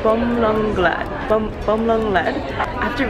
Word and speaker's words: Bumrungrad: okay I originally pron I originally pronounced this hospital as bum run grad but it's actually uh bum lung grad bum bum lung lead